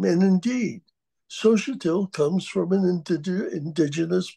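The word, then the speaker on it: Xóchitl: notes I'm joking here sotil is spelled x o c h i t i l it's a indigenous Indian name and indeed Sohail comes from an IND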